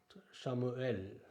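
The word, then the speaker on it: שמואל: ஆலைஃப், அதுக்கு உச்சரிப்பு கிடையாது. சேரே ஏ, லாமெட் இல், ஷமுவேல், ஷமுவேல், அதாவது சாமுவேல் என்ற பெயர் தமிழில் இருக்குது, சாமுவேல்.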